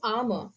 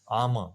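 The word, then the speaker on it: Ama: is Amma okay so it is pronounced as armor armor okay so yeah yeah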